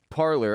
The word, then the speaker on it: Parler: From the BBC, Twitter alternative Parler, I'm going to keep calling it Parler. If they wanted it spelled or it's pronounced parlay, they should have spelled it that way.